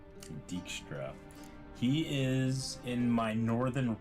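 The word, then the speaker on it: Dijkstra: Dickstra. Dickstra.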